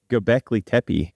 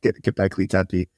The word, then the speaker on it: Göbekli Tepe: Göbekli Tepe. Göbekli Tepe.